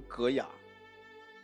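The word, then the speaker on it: 戈雅: 一个戈字啊，金戈铁马的戈，上面那个，底下是亚洲的亚，读成戈雅，那就是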